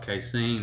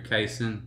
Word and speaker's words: casein: Well, it has to do with a protein in dairy products called casein or casein, you'll hear it pronounced.